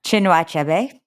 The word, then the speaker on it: Chinua Achebe: Another, Things Fall Apart by, can you pronounce this author's name for me? Chinua Achebe.